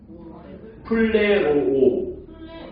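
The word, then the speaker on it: πληρόω: 플레로오. 네. 저게 아자가 피읍이고 레에 로오오 뭐 그렇게 해가지고 이제 플레로오라고 읽는 거예요.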